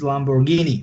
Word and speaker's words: Lamborghini: one borghini they start because in Italian pronunciation it is Lamborghini right they start to